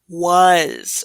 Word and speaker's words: was: So is it was? No, it is was. So that A is going to make kind of like a U sound, W. But we're combining this was. We're making that Z sound for the S.